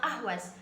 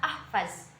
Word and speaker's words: Ahvaz: Sebenarnya kota ini bernama Ahwaz, akan tetapi orang-orang memanggilnya atau membacanya Ahvaz.